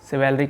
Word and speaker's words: chivalry: और कैवेलियर से एक मिलता जुलता एक और वर्ड है जिसको आप सिवेलरी कहोगे, CHIVALRY, सिवेलरी, सिवेलरी, सिवेलरी बोलते हैं इसे। इसका प्रोनाउंसिएशन कुछ और भी हो सकता है, तो प्रोनाउंसिएशन पे मत जाइए, आप इसका मतलब समझिए।